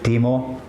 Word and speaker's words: Olkkonen: But yeah, it's pronounced Teimmoen.